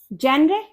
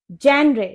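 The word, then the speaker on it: genre: जेनरे। जेनरे, देखने में ऐसा लग रहा है कि ये जेनरे है, लेकिन इसकी करेक्ट प्रोनाउंसिएशन होती है जॉनरा, जॉनरा, जॉनरा।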